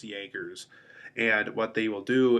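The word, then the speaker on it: Jaegers: Jaggers and it looks like Jagger but it's pronounced Jaggers and what they will do is they will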